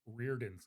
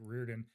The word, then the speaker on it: Riordan: But I realized I probably pronounced Rick Riordan's name incorrectly because I'd never heard anybody say it Yeah.